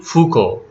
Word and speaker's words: Foucault: our discussion on mutual fuku the spellings and the pronunciation is quite different so remember michel foucault and he is related